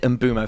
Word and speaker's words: Mbeumo: Mbeumo, I've realised today, so you pronounce it Mbeumo. Flex is the only one that's been saying it correctly the entire time. Yeah? Turns out I kept saying Mbeumo. It's Mbeumo.